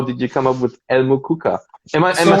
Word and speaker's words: El Mukuka: How did you come up with El Mukuka?